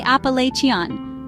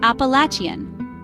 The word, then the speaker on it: Appalachian: Some say Appa-LAY-chian, while others say Appa-LATCH-ian.